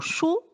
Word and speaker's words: chaud: Le mot chaud est composé d'une seule syllabe. Chaud, le D à la fin, c'est une lettre muette qui ne fait pas de bruit, c'est-à-dire qu'elle n'a pas de son.